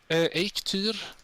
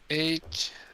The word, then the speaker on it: Eikthyr: Eikthyr. Say that again? Eikthyr. Yeah, Eikthyr, just like that. Here. A. Okay, so almost. I mean, to me that almost sounds like egg tier, but with a better accent.